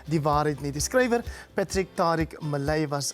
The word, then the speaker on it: Patric Tariq Mellet: Patric, maybe we should just start with your name, because up until this moment I used to pronounce it as Patric Tariq Mellet. It's Patric Tariq Mellet.